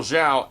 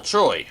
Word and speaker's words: Zhao: And then there was Iroh and Ong, and sadly, nobody called Admiral Zhao Admiral Choi, which would have been hilarious since in the Season 1 finale, someone actually does call Admiral Zhao Admiral Choi.